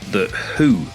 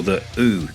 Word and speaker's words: The Hu: of the mongolian outfit the who or the ooh depending on how you want to pronounce it now the members of